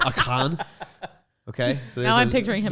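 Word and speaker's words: Achan: like uh akan aiken sometimes we say aiken like clay aiken but it's really pronounced like akan okay now i'm picturing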